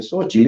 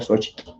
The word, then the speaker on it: Xochitl: Un poquito para decir Xochitl, no se dice Xochitl, eso así lo dice la gente, pero lo correcto sería Xochitl.